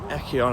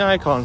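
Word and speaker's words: Eikon: And I realized actually it's not Echon as I was calling. It's the Icon Center. I think that's how I pronounced.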